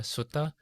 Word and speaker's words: sutta: called the Brahma Deva Sutta. Sutta, S-U-T-T-A, is usually how the Pali Canon or the Theravada sutras are referred to, because in Pali it is spelled or pronounced that way, sutta.